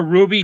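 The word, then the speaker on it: RWBY: Yeah, Ruby is spelled with a W instead of a U.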